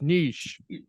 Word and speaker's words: niche: I get comments on YouTube videos and they're like, it's not niche, it's niche. Okay. So I recently heard that it actually is a French word and it's pronounced niche, but know what?